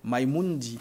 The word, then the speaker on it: Mamundi: de quoi alors maimundi comment ça se prononce maimundi mamundi mamundi d'accord c'est en quoi mamundi c'est en français mamundi c'est en français